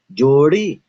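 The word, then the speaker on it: जोड़ी: Or is this a flap? Jodi. You'll be surprised to know it is actually a flap.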